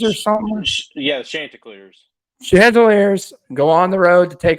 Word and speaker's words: Chanticleers: where the Coastal Carolina, and I believe I pronounced their mascot right, the Cantaliers or something? Yeah, the Chanticleers.